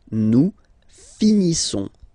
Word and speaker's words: finissons: Nous finissons. Finissons. Okay, final S not pronounced. Nous finissons.